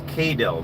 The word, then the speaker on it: KDIL: So it's KDIL. That's how you say it, and it stands for. Katie and Dylan.